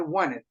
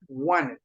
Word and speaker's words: wanted: on Friday night I wanted wanted wanted how how do we get that sound like there's no T we do not pronounce the T on this one I want it wanted